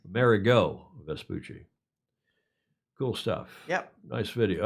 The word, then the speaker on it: Amerigo Vespucci: The America Vespucci. Is that how you pronounce that? Yep. Amerigo Vespucci.